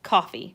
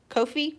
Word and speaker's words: Ko-fi: It is pronounced coffee. We are changing the world one pronunciation at a time. It is coffee. It is not Kofi or Ko-Fi.